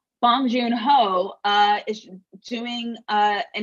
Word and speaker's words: Bong Joon Ho: want to make sure i'm not saying his name wrong bong joon ho uh is doing uh an incredible job again